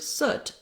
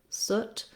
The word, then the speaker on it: soot: So in the word soot, it's one of the exceptions to that rule. You might be able to associate it again with a word where you have that vowel more clearly for you. For example, push, soot, or pull, soot.